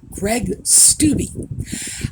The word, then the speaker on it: Greg Steube: Congressman, Greg Steube, I looked it up, by the way, that is the proper pronunciation of his name, Greg Steube, has proposed legislation that he is calling the SPARE Act.